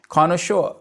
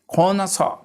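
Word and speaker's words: connoisseur: A critical जज ऑफ एनी आर्ट and craft, उसके लिए वर्ड यूज़ किया जाता है कॉनोशोर। कॉनोशोर। इसका एक और प्रोनाउंसिएशन भी है खोनसा।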